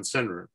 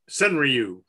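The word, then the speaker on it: senryu: and uh alan pizzarelli gave a presentation on cenra and um uh sunriu by the way is the way you actually pronounce it but i've given up trying to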